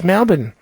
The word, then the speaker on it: Melbourne: you've announced Melbourne and you pronounce Melbourne incorrectly it's Malbin mellow it smell born and it Sarge but you just have something against the letter R is difficult down there